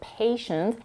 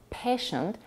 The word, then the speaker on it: patient: example some nonnative speaker May mispronounce the word patient as patient shortening the dong a to a so pay attention to